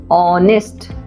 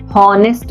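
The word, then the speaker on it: honest: ऑनेस्ट, हॉनेस्ट नहीं, ऑनेस्ट, तो ऑनेस्ट में एच साइलेंट हो गया, हम ओ से पढ़ रहे हैं, ओ का साउंड आ रहा है, वॉवल का साउंड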